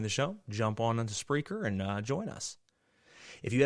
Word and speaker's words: Spreaker: the show is through spreaker spreaker is spelled s-p-r-e-a-k-e-r so like speaker with an r and that is our